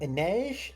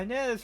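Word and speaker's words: Inej: Oh, Anes. Is that how you pronounce that? Yeah. Yeah. Anz from Six of Crows.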